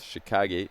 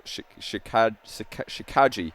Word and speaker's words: Shikaji: some of these matches as chicago no shikaji i always get his name wrong shikaji abdulaziz and legend